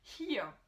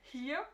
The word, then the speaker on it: hier: Si tu vois ce mot hier, on dirait que c'est hier, ça se prononce hier, here, d'accord? Avec le H au début, et le ER qui se prononce presque comme un A.